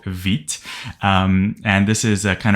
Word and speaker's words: Vite: get tempted to pronounce it a Vite because that's probably how you said it in English but it is named after quick and French which is Veet so I'll try my